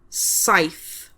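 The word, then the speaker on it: saith: we e c h seven is scythe. S a i t h. Scythe.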